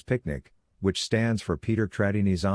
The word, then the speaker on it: PQNK: PQNK to be pronounced as picnic which stands for Peter Kratinis cashiari and means the regenerative and sustainable pristine organic farming system.